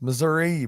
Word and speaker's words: Missouri: M that that how you say it it's Missouri bro how do you say how do you